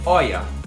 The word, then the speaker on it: Hoya: as rolhas sobre cera na verdade a pronúncia oia oia eu gostaria de